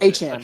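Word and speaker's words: Achane: A-Chain's not how you pronounce his name now. He made sure. I don't remember what it is. What is A-Chan. it? It's A-Chan.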